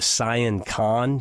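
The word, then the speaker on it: Sian Ka'an: excursions snork fishing um we went to the cyan con you need to put that on your bucket list it's pronounced s i a n k a an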